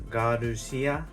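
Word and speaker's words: ガルシア: Japanese pronunciation is Garushia.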